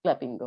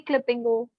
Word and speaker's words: Clapingo: Yes, yes, clappingo. Is it clappingo or clappingo? You can pronounce it both ways. I say clippingo, others say clappingo, so it's Okay. okay. You can go with both.